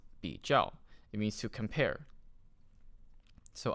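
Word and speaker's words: 比较: right Chinese word of the day it is pronounced be jel it means to compare so I can say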